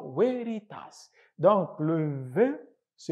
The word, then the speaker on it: veritas: du mot latin Veritas on écrit veréritas mais prononce Veritas donc le Ve se prononce en latin alors